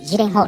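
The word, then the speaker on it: Gyllenhaal: Embora seu nome seja pronunciado Maggie Lenhall em inglês , hoje usarei Gillehall, como é escrito no Japão.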